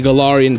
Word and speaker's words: Galarian: Galarian.